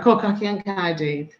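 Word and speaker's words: Côr Cochion Caerdydd: Cor Cochion Caerdydd.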